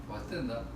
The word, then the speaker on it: Stendhal: Pero fíjate, en realidad es una novela crítica porque refleja, como decía el realismo decimonónico, creo que era Stendhal, ¿se pronuncia así? Estándar, sí. Stendhal, que la novela debe ser como la consecuencia